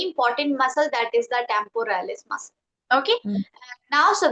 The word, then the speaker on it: temporalis: of that muscle is temporalis. Okay, What is shall I it? spell it? Yes. Temporalis. Okay, Tempo, tempo, Mm-hmm. Ralis, ralis. So temporalis.